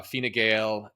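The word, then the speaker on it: Fine Gael: pronounce them different so I'm going with the official RTE that is the national broadcaster of irelands pronunciation so there are two Center rightish parties uh Fina gaale and fana foil who have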